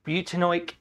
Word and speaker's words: butanoic: So we would pronounce that molecule as butanoic acid.